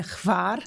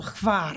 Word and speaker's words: Hvar: gostei bastante, que é Hvar. Eles falam Hvar lá na Croácia, né? Tem uma pronúncia difícil, na verdade, enfim, mas aqui a gente fala Hvar, enfim, tem várias variações,